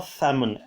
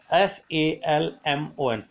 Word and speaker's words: salmon: Now this main lake is famous for salmon. Salmon. Salmon इसका pronunciation नहीं है, इसका pronunciation salmon.